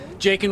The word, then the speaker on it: Jakin: It's Jakin rhymes with bacon.